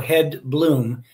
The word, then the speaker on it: Hedblom: And so the name Hedblom has been anglicized to match the pronunciation of the original Swedish, which means heather blossom. So Hedblom.